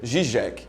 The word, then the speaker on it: Žižek: é zizek com a se pronuncia gijec solta mesmo problema que